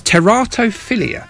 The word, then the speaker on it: teratophilia: If you're going to be a scientist, you've got to pronounce words correctly. It's teratophilia.